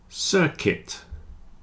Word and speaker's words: circuit: business women business women biscuit circuit and build have a silent U you see the U